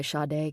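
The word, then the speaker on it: Sade: song Smooth Operator by Shade came on. He had known Chi-Chi for about a year and it finally hit him. That's who she reminded him of. Shade Adu, pronounced Sha.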